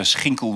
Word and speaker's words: Schinkel: So Schinkel would be the Dutch pronunciation with a hard, but anything else is fine.